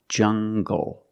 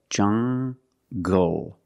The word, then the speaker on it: jungle: an L after it it makes the G sound like English make the hard G English or jungle tangle and angle these are pronounced with the hard G sound example monkeys live in a jungle make the hard G sound jungle so you have the nasal sound and the hard G jungle g monkeys live in